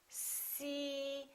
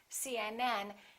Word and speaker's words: CNN: The rule is we stress the last letter of an abbreviation.